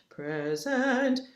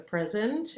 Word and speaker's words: present: here after and then present za that z i know it's an s but here we pronounce it z right the present and that's a voiced